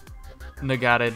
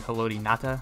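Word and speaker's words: Ngata: when I played Joel Nagata destroyed me or I'm sorry hodata you don't pronounce the G but our secondary is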